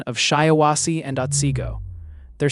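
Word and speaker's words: Shiawassee: Hey Ryan, a lot of people in chat are trying to help you out with the pronunciation of shyawasi andiggo. They're saying it's pronounced shyawasi and I think I nailed that already.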